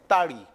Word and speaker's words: ताड़ी: Next example is preparation of ताड़ी। Spelling इसकी toddy है, प्रोनाउंसिएशन आप इसका सही लेना चाहिए आपने, ताड़ी।